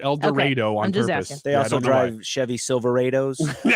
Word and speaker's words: El Dorado: an interesting one so el dorado is where my uh it's a town right next to wichita is that different than el dorado yes they pronounce it el dorado they also drive chevy